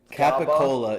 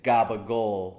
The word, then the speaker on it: capicola: one letter that he capicola is like ca PA Co it's like Cola exact but we say gabagool GOG a suit we